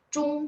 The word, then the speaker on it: zhong: Jadi teman-teman sering dengarnya cung sehingga tulisnya kan ZHUNG. 没有这样的汉语拼音. Langsung coret dari pikirannya teman-teman, 没有这样. Ya, saya juga udah coret. Jadi kalau dengar cung langsung ZHONG. Memang bacanya agak U, betul nggak?